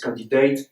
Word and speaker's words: candidat: Every silent consonant in French, an E was added, like certificate, candidate. In French, candidat, certificat, you don't pronounce the T.